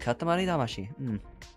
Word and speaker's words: Katamari Damacy: Because Katamari Damacy, well, technically it's pronounced Katamari Damacy.